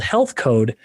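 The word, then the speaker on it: HLTH Code: And then lastly, just a little while ago, I started a company called Health Code, and health is spelled HLTH.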